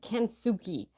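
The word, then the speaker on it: kintsugi: going to get it wrong but it's called kuki and that's where you take broken pottery and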